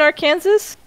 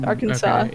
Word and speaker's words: Arkansas: do you live in our kansas yeah i'm sorry i live in arkansas but yeah why why is it spelled the way it is if it's uh pronounced arkansas yeah what are you whining